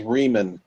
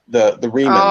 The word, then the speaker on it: Remans: The one mispronunciation I caught was Riemann. The Remans. Oh. So, you know the story of Romulus and Remus, right? The Remus was the slaves, right?